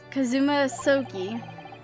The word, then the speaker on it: Kazuma: It's pronounced Kazuma.